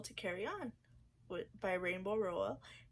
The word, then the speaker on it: Rowell: But that is the sequel to Carry On by Rainbow Rowell. It's called Wayward Son. I definitely said her name wrong. Rainbow Rowell? Rowell.